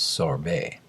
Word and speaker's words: sorbet: Actually, the correct French pronunciation is sorbet.